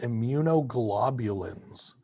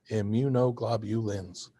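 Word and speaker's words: immunoglobulins: There are also plasma proteins called immunog globulins. That's a long word, six syllables. Immunog globulins.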